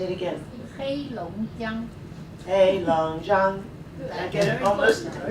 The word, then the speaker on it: Heilongjiang: Heilongjiang. Heilongjiang. I get it almost. Besides being hard to pronounce, it's tonal too, I hear.